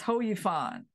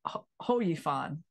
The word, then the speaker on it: Hou Yifan: yeah oh so okay so it's not it's it's ho it's ho you fun okay yeah so my